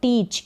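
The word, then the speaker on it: teach: आगे है टीच। क्या है? टीच। यहाँ पर EA का उच्चारण बड़ी ई के रूप में, और CH का उच्चारण क्या हो रहा है?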